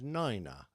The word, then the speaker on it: niner: So 9 is niner and not nine, and 3 is said